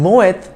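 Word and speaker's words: Moët: the world muay thai in french the letter at the end of a word is usually not pronounced but moeth is a dutch name in which the t at the end is sounded it is actually the surname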